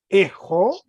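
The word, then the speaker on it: ἔχω: Fíjate que en este verbo, el acento está en la primera palabra, en la primera sílaba. Entonces se lee ejo, en la segunda se lee ejeis.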